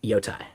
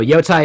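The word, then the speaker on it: Jotai: Yes, Yotai is massively different, and it's spelled with a J. So Yotai is all about atomic state.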